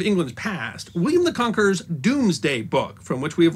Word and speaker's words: Domesday: Normans couldn't spell but because Dome was pronounced Doom before the Great Vowel Shift and so the Norman